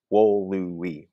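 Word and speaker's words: volui: if that's a syllable, if we just say this word out loud, and if it's two syllables, we make sure that we mark two syllables. If it's three syllables, we make sure we mark three syllables. And in fact, wolui, wolui, that's three.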